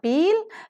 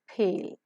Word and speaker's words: peel: as peel, but is pronounced with a slight h sound because p is present in the initial position. So, it is not peel, it is peel. Consciously incorporate the h sound so that the pronunciation will have the aspiration within it.